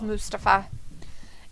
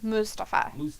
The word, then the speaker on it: Mustafa: mustafa i don't know just kidding it's mustafa he calls himself mustafa so when he introduces himself me mustafa ali all right riddle hit him god forbid you pronounce it the other way oh he ends up